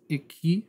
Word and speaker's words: Exquis: So this right here is by Intuitive Instruments, a device called, I think it's pronounced Iki. It's like a French company, a French name.